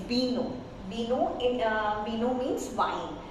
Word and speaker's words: vino: So in Spanish, though it's we mentioned as V, but we reduce the sound of B. So it's vaca and it's vino. So we produce B sound.